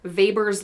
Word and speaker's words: Weber: We quantify this using Weber's law. It's spelled with a W, he's German, you say Weber.